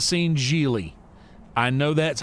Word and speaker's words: Gigli: I have not seen Gigli.